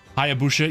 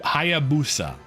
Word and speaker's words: Hayabusa: Hayabusha. Yeah, I said it wrong. I put I put an H in there. Hayabusha. Hayab Hayabusa.